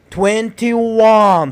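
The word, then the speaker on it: twenty-one: 21. So you have to stress 1, make it longer and louder.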